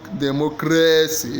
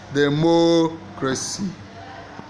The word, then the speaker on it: democracy: best for you okay the stress pattern for democracy is demo crazy the answer is B the stress is in the second syllable more crazy not the mo not de democracy is democracy the stress pattern for